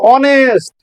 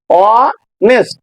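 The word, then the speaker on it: honest: উপরে লিখে রেখেছি সব আগে এন বসবে দেখো অনেস্ট এইচ ও এন ই এস টি এইচ এর উচ্চারণটা হয় না এটা তোমরা জানো কিন্তু আমি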